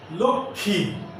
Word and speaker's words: লক্ষ্মী: যেমন লক্ষ্মী, সূক্ষ্ম, এই লক্ষ্মী এবং সূক্ষ্ম শব্দের যে মফলা আছে এই ময়ের উচ্চারণ হবে না।